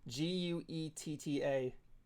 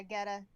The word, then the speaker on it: Guetta: I can't pronounce the last name. David Guetta? Guetta. Yeah, Guetta.